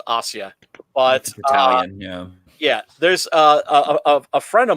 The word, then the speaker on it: Asia: only recently found out yes pronounced Ostia yes there's a friend